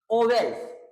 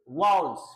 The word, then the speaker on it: vowels: इसको ओवेल्स ना कह करके इसको आप बोलेंगे वाउल्स।